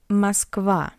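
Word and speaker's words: Москва: Musva Moscow. A is stressed and O is unstressed.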